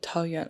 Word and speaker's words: Taoyuan: So if you spell it with, the alphabet, it's Taoyuan. Close. Yuan. Taoyuan.